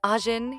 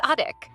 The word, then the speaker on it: Ajin: Instead of saying Ajin, he says Adek, which sounds like a puppy's name.